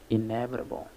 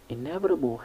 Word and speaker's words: inevitable: Inevitable has 5 syllables. The first one is a like in sheep, and the second one is ne with a like in bet, and the others is with a schwa sound. So we have inevitable, inevitable. The primary stress is on the second syllable ne, and the secondary stress is on the first syllable a.